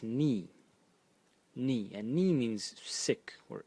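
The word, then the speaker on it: 疒: And again, clearly the phonetic element is ba, and the semantic element is this part of the character, which is pronounced ni.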